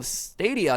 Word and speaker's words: Stadia: Those were kind of the two code words, and then it was like, oh, Stadia, and they're like, congratulations, you pronounced it right.